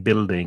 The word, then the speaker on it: building: guidebook and building the u is silent in building it's just b i l d build building these tall